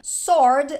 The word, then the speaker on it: sword: T não é pronunciada Sword a letra w não é pronunciada tudo letra silenciosa tá